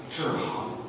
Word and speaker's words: Zhihan: Zhihan, the proper pronunciation, Simon will be able to tell you. In Chinese, is Zhihan.